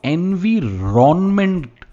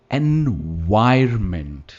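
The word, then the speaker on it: environment: वो इस वर्ड को एनवीरोनमेंट कहते थे। एनवीरोनमेंट, केमिस्ट्री की प्रोफेसर थे। एनवीरोनमेंट, पर क्या इसकी प्रोनाउंसिएशन एनवीरोनमेंट है? नहीं, ये है एनवायरमेंट। एनवायरमेंट, और वाई पे इसका स्ट्रेस है, एनवायरमेंट।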